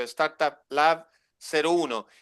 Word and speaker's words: StartupLab.01: me aclaraste la duda, se pronuncia el cero, Startup Lab 01, y después viene el 02, 03.